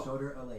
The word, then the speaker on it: Soder Alea: You're just pronouncing it wrong. Alea. Oh. Soder Alea.